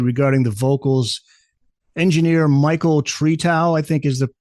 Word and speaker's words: Tretow: Engineer Michael Tretow, I think is the pronunciation.